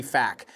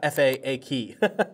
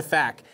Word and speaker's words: PHAK: It's definitely not FAAK, but I call it the FAC.